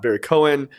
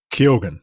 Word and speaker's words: Keoghan: The guy who played the Joker, Barry Cohen, I'm pretty sure I'm not pronouncing it exactly right because he's like, it is Keoghan. He's Irish. Barry Keoghan, like super super Irish.